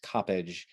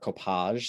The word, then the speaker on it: Coppadge: my life, I've had people trying to pronounce the end or my given last name, Coppage, with a sort of French flair, Coppage.